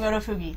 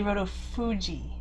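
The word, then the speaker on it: Rotofugi: We've been saying Rotofuji. It's apparently Rotofuji, so we apologize for that, and we will say it correctly from now on.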